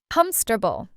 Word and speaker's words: comfortable: This word means not hard to use and we say it in only three parts, not four. Comfortable.